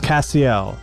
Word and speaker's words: Cassiel: Ginger, remind me, is it pronounced Cassiel? It's Cassiel. It's no T.